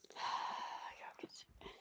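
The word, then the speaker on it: Jokić: Pronounced properly. Jokic.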